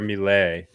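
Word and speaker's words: Milei: play to undermine Javier is it Malay how do you say it m Javier mle yes uh this radical kind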